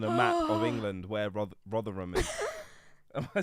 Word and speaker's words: Rotherham: not pin on a map of England where Rotherham is am I saying it right yeah okay